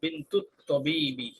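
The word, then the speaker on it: بنت الطبيب: অফ আল্লাহ বিনতু আত্তাবিবি মিলায় পড়লে আলিফ লাম উচ্চারণ হবে না। বিনতু তবিবি, ডাউটার অফ দ্য ডক্টর,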